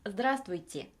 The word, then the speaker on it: здравствуйте: 끝에 음처리 없이 그냥 바로 밑으로 뚝 떨어진다. 라고 생각을 하시면서 발음을 하시면 됩니다. здравствуйте.